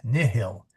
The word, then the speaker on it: nihil: Yeah, mihi is mihi, nihil is nihil. The H is no, okay.